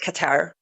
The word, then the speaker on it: Qatar: Um so let's very briefly address because I a week before last I covered Qatar or some of you call it cutter at Qatar u closest to the proper pronunciation.